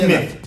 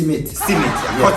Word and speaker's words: Smith: Pronounce it properly. Smith. And about to say Simit.